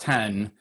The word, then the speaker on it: X: If Mac OS is no longer Mac OS X, pronounced 10, does that mean things like Logic that have X in their name are going to upgrade too?